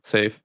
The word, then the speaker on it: saffee: that he wanted to know how to pronounce Safe's name. So Just I mean, Safe said it. Yeah, Safe said it himself.